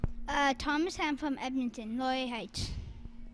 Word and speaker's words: Laurier Heights: Ly Heights. L How do you say that? Ly Heights. Laurier Heights in Edmonton, Alberta.